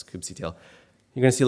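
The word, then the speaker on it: kubectl: if I do a cube CTL or cube cuddle for those that you know have issues with the way I pronounce coopsy tail you're going to see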